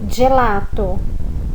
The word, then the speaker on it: gelato: As sílabas G e G, do jeito que nós conhecemos, também tem uma forma de leitura diferente. Nós lemos como se começasse com um DG. Então, quando está escrito gelato, nós lemos gelato. Onde está escrito giorno, nós lemos giorno.